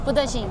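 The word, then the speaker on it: 不得行: 不得行, yeah. Okay. So that's no. So 摇得. 摇得. That's yes. Okay. 不得行. Budashing.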